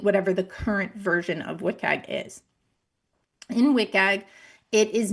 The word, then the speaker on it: WCAG: The current version for Web Content Accessibility Guidelines, which I'm going to call WCAG, W-C-A-G, I'll pronounce it as WCAG moving forward through this presentation.